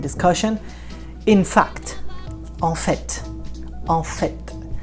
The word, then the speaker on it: en fait: I know this one has a letter T at the end and you pronounce it. Okay, I know in the verb to do, faire, you say il fait. Il fait, you don't pronounce the T. But when you say en fait, it's written the same, but it's not, it doesn't sound the same.